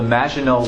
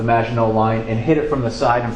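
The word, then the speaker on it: Maginot: Defense on their border with Germany called the magino line uh it's a French term uh it's spelled m a g i n o t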